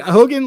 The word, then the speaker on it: Hogan: But Hogan rhymes with Logan, so we're gonna.